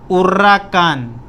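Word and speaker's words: huracán: हमेशा स्पेनिश में H silent होता है, एच की कोई आवाज़ नहीं है। एच is completely silent in Spanish. तो उर्राकान, उर्राकान, कान, इस पर आई है तो वर्ड क्या एम्फेसाइज होएगा?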